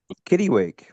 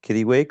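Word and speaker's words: kittiwake: Is the proper pronunciation actually Kittywake or is it Kiddawake? Oh, yeah. So, I think it depends on uh the part of the world that you're from.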